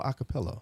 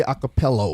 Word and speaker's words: a cappella: The amoeba is evolving, and that was all a cappella. Again. How do you say it? Acapella. A cappella. A space C A 2 P's E 2 L's and an A.